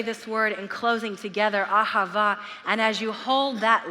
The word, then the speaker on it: Ahava: Ahava and he said the way that you say it is you hold that last syllable that lasts a h as long as you can until you you look you don't have any more breath in you and it's to represent